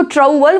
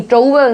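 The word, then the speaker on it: trouble: अब इसको ट्रौबल बोलोगे तो नहीं, ट्रौबल नहीं, इसे बोला जाएगा ट्रबल। The right pronunciation is ट्रबल, ट्रबल, ओ is silent here.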